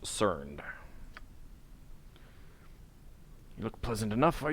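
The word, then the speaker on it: Cernd: I've seen his name before, and I was honestly not expecting it to be pronounced Cerned.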